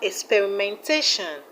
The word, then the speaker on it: experimentation: We have experimentation, experimentation. The stress is on TAT.